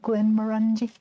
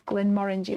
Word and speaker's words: Glenmorangie: you say it but most people call it glenmorangie but it's glenn orangey whiskey oh no moved got